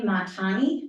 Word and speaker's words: Montani: this logo that you guys chose is Adrienne Montani, is how you pronounce her last name.